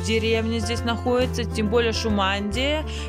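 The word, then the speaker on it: Шумадия: Или Шумандия, Шумандия, скорее всего, потому что ударение у них всегда на первую букву. Гласно, Шумандия.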